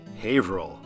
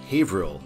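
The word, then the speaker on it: Haverhill: North for Lawrence and havil yes I did have to be told how to say that that is a super weird way to pronounce that word we're meeting i93 for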